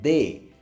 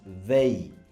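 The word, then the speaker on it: they: তারপরের যেই ওয়ার্ডটা আমরা দেখতে পাচ্ছি সেটা হচ্ছে আমরা বলি দে। বাট এটার উচ্চারণটা আসলে দে না, এটার উচ্চারণটা হচ্ছে কি দেই, দেই, দেই, দয়কারে দে রস্য ই, দেই, দেই।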